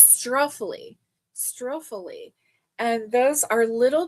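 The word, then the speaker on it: struffoli: it are the um spuffly um spuffly. I think that that's how you say it. Let me see. It is a an Italian cookie. Let me see. Okay, it's not Spuffly, it's Struffly.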